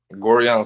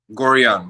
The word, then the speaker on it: Gorjan: we're going to bring him on right now Georgia and what's up